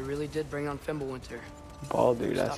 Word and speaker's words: Baldur: Baldur, that's how you say it.